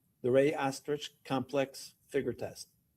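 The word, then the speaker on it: Rey-Osterrieth: There's also a visual spatial ability test and I'm going to have you explain or pronounce that for us. The rey test. Ray the Ray Astrich complex figure test.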